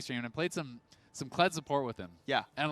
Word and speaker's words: Kled: But anyway, we got Kled versus Olaf here. I've been informed. Okay. By our boomer producer, Arthur, the mayor. Rick Fox was calling the champion Zed. Just so outright. He was mispronouncing the name.